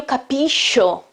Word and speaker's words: capisco: Io capisco, it's not io capisco. Okay, you following me? Because after SH, I've got an O, okay? I don't have E or A, I've got O.